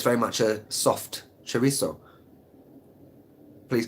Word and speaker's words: chorizo: TZ but here it's very much a soft chorizo please correct me if I'm wrong yeah there